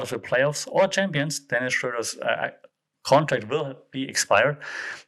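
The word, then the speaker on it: Dennis Schröder: then schroeder is dennis it's dennis schroeder just saying that he's a german so that's why i can pronounce his name dennis schroeder and he deleted the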